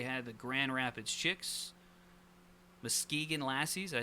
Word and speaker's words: Muskegon: Muskegon Lassies.